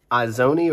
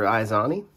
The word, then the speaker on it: Izoni: There was an original Izoni or Izani, depending on how you say it, in Guilds of Ravnica, right?